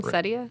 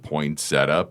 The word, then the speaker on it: poinsettia: Cuz there's a little bit of a dispute on how to pronounce this. You know which one I'm talking about. Poinsettia. See, we've heard poinsetta.